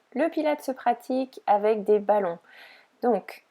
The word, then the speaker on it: Pilates: On prononce d'ailleurs Pilates.